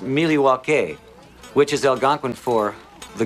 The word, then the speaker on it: Milwaukee: actually it's pronounced miliwaki which is Algonquin for the good land does